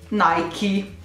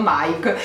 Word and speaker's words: Nike: fin qua ci arrivavamo e dicono che si pronunci mai chi quindi ho sempre sbagliato io vi prego scrivetemi se voi avete mai pronunciato mai chi non lo avete sempre pronunciato mike perché io non ho mai sentito nessun appunto se non gli americani pronunciarlo mikey ma sembra che effettivamente si pronunci proprio così dai kit da oggi